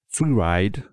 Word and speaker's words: freeride: Freeride, voilà, je prononce à la française parce que sinon on ne sait pas qu'il y a des R.